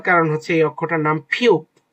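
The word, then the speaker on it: 피읖: এটা আমরা যে ফু বলেছি ফু হওয়ার কারণ হচ্ছে এই অক্ষরটার নাম ফিউপ। ফিউপ। পি এইচ এর মত উচ্চারণ অনেকটা।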